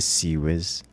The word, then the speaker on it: CIWS: not far enough AE never say ciws like that again it's a c whiz yeah I could but